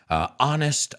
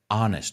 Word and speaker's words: honest: And some of his songs, Honest I Do, vamos a pronunciar esa palabra juntos, honest, no honest, honest I Do, Baby What You Want